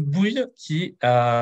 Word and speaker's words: Bouil: Je suis avec une invitée sur la chaîne, Aude Bouille, est-ce que c'est bien Bouille que ça se Bou- prononce?